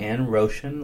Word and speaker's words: Roshan: My name is spelled first name Roshan, Roshan, like ocean with an R, and last name John.